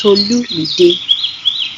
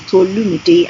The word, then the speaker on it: Tolumide: ways to pronounce it, but it's TolumiDE. Four syllables, TolumiDE, and it's spelled as TOLUMIDE.